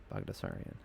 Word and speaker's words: Baghdasaryan: Baghdasaryan. That's how you pronounce it. Malsik Bagdasaryan.